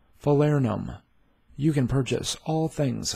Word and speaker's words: Falernum: In today's video, you are going to learn how to pronounce Falernum. Falernum. Falernum.